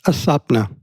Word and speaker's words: Aswapna: Am I pronouncing that correctly? Aswapna.